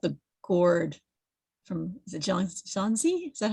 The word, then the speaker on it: Xunzi: It reminds me a bit of the story about the gourd from, is it Xunzi? Is that how you pronounce it?